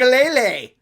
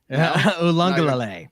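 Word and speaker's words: Uiagalelei: That's how his name is pronounced. Ulangalele. Ulangalele. Ulangalele.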